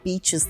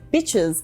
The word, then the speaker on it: beaches: What Brisa meant to say is "Let's go see some beaches this weekend." Using the short ih sound in this word changes meaning completely as bitches is often an offensive way of referring to females.